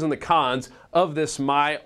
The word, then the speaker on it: MyRA: discussing a Hot Topic my or Myra as a lot of people are incorrectly pronouncing this thing like a woman's name it stands for my